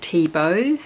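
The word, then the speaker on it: Thiebaud: Tebow he has got a hard to spell surname but it is pronounced Tebow not the board there's a lot of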